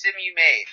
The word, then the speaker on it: Samoyed: By the way, it's Samoyed. Well, you could say it either or. Well, that's how it's pronounced.